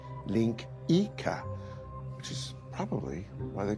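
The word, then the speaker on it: linguiça: Portuguese national dish it's spelled langua but it's pronounced Linka which is probably why they call sausages lyx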